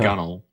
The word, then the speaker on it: gunwale: to brace against the gunnel of the ship the gun fail again it just spelled gun whale I pronounced gunnel because railing you know